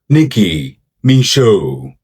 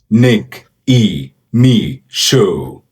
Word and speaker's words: Nicki Micheaux: Her name is pronounced Nicki Micheaux. Nicki Micheaux. Nick E. Me Show.